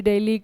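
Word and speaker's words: Dili: है दिल्ली ठीक है अब इसे प्रोनाउंस जो है आपका दिल्ली डेली किया जाता है जैसे हमारी दिल्ली है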